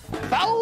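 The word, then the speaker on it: FAW: FAU se escribe F-A-W y se escucha FAU.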